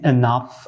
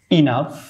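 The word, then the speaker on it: enough: এর পরবর্তী যে ওয়ার্ডটি দেখতে পাচ্ছেন এখানে এনাফ, আমরা উচ্চারণ করি এনাফ, এনাফ উচ্চারণ করি, তো এনাফ উচ্চারণটি আসলে ভুল, এটি উচ্চারণ হবে ইনাফ, ইনাফ, এটি সঠিক উচ্চারণ হবে ইনাফ, এটা সঠিক উচ্চারণ হবে ইনাফ, ইনাফ।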